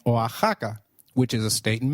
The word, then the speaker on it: Oaxaca: While X is usually pronounced as X inflexible, it is pronounced as a throaty H in the words Mexico, Mexicano, and Oaxaca, which is a state in Mexico.